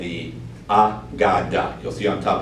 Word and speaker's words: AGADA: name that we decided on is called the ah godda you'll see on top how you pronounce that that is going to be the